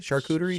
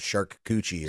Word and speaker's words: charcuterie: Is that how you say it? Charcuterie? Charcuterie, yeah. Okay, yeah. Because you guys used to call it shark coochie or whatever.